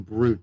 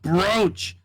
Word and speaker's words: brooch: yeah we were me and Amber were saying bro and then am or FIA was freaking out like no it's pronounced brooch how do you write it how do you